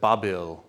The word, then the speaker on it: Babil: So the Babylonians, for example, said that Babil, which is how they pronounce Babylon, right? Actually, Babylon is how the Greeks pronounced it, right?